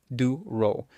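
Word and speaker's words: Diderot: Even there's something called the ditto effect pronounced duro named after a French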